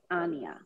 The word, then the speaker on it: Anya: No, the name is Russian, and it's the right pronunciation is Anya.